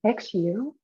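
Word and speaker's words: 嘘: level on the right side is called the shoe sound in chinese is pronounced xu and it's as if you're telling your liver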